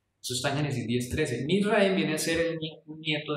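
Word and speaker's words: מצרים: Misraim viene a ser un nieto de Noé. Y de hecho en hebreo, ¿cómo se dice Egipto en hebreo? Se dice Misraim.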